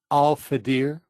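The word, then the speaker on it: Alfaðir: Alfadir.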